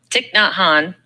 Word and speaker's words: Thich Nhat Hanh: And then Thich Nhat Hanh, is that how you pronounce his name, Mom? Thich Nhat Hanh.